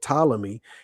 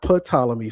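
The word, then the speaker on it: Ptolemy: So his uh his his general talamy it's not palamy family just like it's not pterodactyl or pfiser it's tal the p is silent thank you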